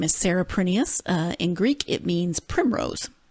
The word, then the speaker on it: Prineas: recording of the author herself saying how to pronounce her name and she says it is prettiest it is Greek and actually in Greece they